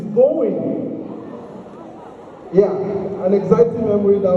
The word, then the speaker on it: Bowen: of orals would say, the correct pronunciation is not Bowen, it's Bowen.